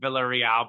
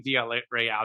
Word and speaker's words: Villarreal: I guess that, technically, would it be Villarreal? Because it's that double L, and if it's La Liga. Yeah, it might be. It might be in Spain. I guess the American announcers pronounce it Villarreal, but it might be Villarreal.